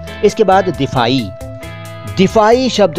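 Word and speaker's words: दिफ़ाई: यानी कि हिफाजती, और इसका उच्चारण है दिफाई, बिल्कुल साफ साफ, दिफाई, दिफाई, ठीक है। इसमें वो ई नहीं है, ई अरबी वाला नहीं है, सिंपल दिफाई।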